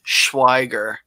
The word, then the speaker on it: Schweiger: is fine, but it's pronounced Schweiger. Schweiger. That's like Scribner, only Schweiger.